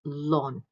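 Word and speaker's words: ln: In this case, the natural log function is pronounced as lawn.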